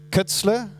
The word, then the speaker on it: Koetzle: In German, it would be Koetzle. So I hope that that's correct.